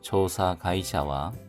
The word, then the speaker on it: 調査会社: 조사 가이샤인데 단어가 합쳐져서 가이샤로 발음이 바뀌었습니다. 조사 가이샤와 조사 회사는 켄츠크히 켄츠크히 건축비가 되겠습니다.